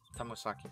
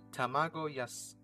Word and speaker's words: tamagoyaki: Once that's finished, I start making the spinach tamagosaki. I think that's pretty good. Tamagosaki. Sorry, chicken. Let me try to pronounce this. Tamagoyaki.